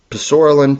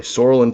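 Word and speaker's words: psoralen: Um, the root contains poralin. That's not the way you pronounce it. The P is actually silent but I wanted to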